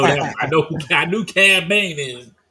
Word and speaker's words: Cad Bane: I know I knew C ban is I knew there was a K in there no it's just c a d b a n e well it sounds like a k it does I know